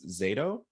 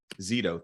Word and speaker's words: Zito: I believe it's Zato. Said banned books. Zito, thank you so much for correcting me.